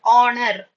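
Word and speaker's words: honour: Then for the word honor, honor. H O N O U R. It is not honor, it is honor.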